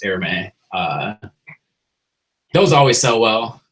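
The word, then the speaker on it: Hermès: obviously those'll sell well h e r mes I'm pretty sure you it's pronounced airme uh those always sell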